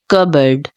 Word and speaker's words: cupboard: all of you so the correct way of pronouncing this word is cboard cboard so guys if you find this video